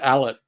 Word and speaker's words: Allert: allert uh it's it's we pronounce it allet but a lot of people just say alert whatever allert we'll go